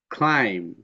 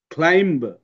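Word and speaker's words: climb: যেমন এই যে কম ক্লাইম থাম দেখছো কম ক্লাইম থাম্ব কিন্তু আমরা এভাবে বলবো না কম্ব ক্লাইম্ব থাম্ব বি বলা যাবে না বি এর ব উচ্চারণ হবে না ক্লাইম ম থাম ম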